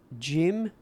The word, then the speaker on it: Jim: a degree yeah um my name's Jim um it rhymes with Tim I CU I'm not